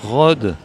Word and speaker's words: Rhodes: de cette année, Rode, qui est le prix du jury 2022. Rode, bonjour. On dit bien Rode ? On dit Rode, oui, c'est ça. Le S ne se prononce pas.